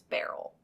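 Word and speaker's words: Beryl: But Evans claimed that he and his wife Barl, I know the name sounds a little odd, but it's spelled B E R Y L. It's like Cheryl or Merrill only it's Barl.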